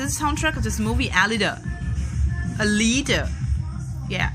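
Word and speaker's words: Alita: nice song there's a soundtrack of this movie a leader a leader yeah Elita yeah that's how you pronounce that so it's a beautiful formula she's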